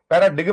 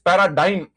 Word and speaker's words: paradigm: पैराडिगम नहीं है, ये जी साइलेंट है। इट इज पैराडाइम।